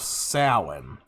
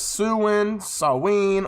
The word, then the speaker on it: Samhain: Halloween traditions on the West, or in the West, date back thousands of years to the festival of Samhain, pronounced as Samhain, or Samhain, the Celtic New Year's festival.